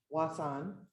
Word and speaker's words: Wasson: I'm known as Wasson, is how you pronounce that.